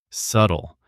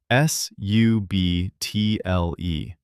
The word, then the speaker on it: subtle: Subtle. That is a hard word. S U B T L E. But the B is silent.